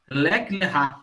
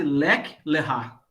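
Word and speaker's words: לך לך: Lek lerá, né?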